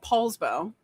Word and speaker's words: Poulsbo: The first four letters of my last name are p o u, but we it's not pronounced Paul, it's Pool.